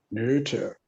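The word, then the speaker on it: Noether: ago was m.a neuter got to use the german pronunciation neuter as in um she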